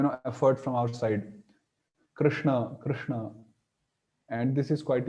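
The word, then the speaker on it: कृष्ण: bit more you know effort from our side Krishna Krishna and this is quite easy that's why we opt for it generally uh so but actual pronunciation should be Krishna Krishna so yeah like that we can try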